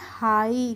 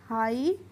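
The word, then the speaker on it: high: आप समझ सकते हैं, यहाँ से टी हटा दीजिए तो क्या बचा है, आई, तो क्या बचा है, इसको पढ़ेंगे हाई। क्या पढ़ेंगे, हाई।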